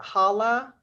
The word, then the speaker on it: Hala: support correct correct okay I see is it Hala yes my name is my name is Hala and I am also here to support